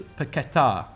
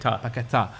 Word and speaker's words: Paquetá: Lucas Paquetá. That's how it's pronounced. Paquetá, who's obviously on his way, or looking like he could be on his way, to Manchester City.